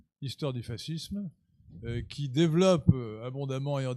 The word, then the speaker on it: fascisme: Mais ma maman étant d'origine italienne, Je prononce à l'italienne fascisme.